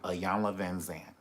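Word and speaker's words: Iyanla Vanzant: work on saying the name right and it's a young lavenzane i learned how to spell it and everything now they're cancelling the show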